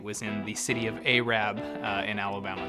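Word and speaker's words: Arab: in the city of a Rab in Alabama that's right it's pronounced a Rab go look it out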